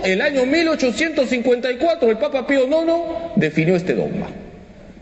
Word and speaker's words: Pío Nono: este caso concreto fue el papa Pío Nono por si acaso no son los bizcochos se escribe piu nueve romanos Cómo se dice sí o no no